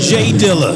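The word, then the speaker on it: J Dilla: DJ well um we we got to say it right it's just Jay Diller oh am I saying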